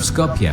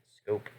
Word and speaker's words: Skopje: Initially it went well, but after the fall of Skopje on April 7th, the Yugoslavians were knocked out of the fight. Oh, it's pronounced Skopje? I thought it was just pronounced Scope.